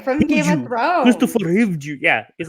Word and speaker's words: Hivju: Hive Jelly? That's how I should call it. Hive Jelly? No, it's like HIV. He's our you- guy from Game of Thrones. Christopher Hivju.